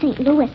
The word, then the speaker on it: St. Louis: Costello, but it's pronounced St. Louis.